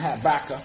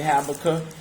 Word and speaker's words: Habakkuk: book of habakkuk okay some say pronounce it habakkuk but i say habakkuk okay chapter two and